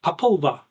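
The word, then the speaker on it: Popol Vuh: So now we go to the Populva. The Populva, I think is pronounced correctly. Populva. Angelica's nodding her head, so yes, that's how you pronounce it.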